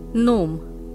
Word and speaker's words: gnome: is knife similarly no the word is gnome because g is silent pneumonia Castle is silent